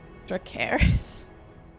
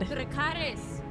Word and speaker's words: Dracarys: Dracarys. Oh, I'm really trying to hold it in. I'm trying to keep it together, but this is just so sad. Dracarys.